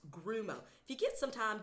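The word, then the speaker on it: guarumo: tree is called a grumo tree it is spelled g-u-a-r-u-m-o but it's pronounced grumo if you get some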